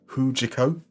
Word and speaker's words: HJK: sir bsov on YouTube did inform me that hjk is pronounced huo so that was huo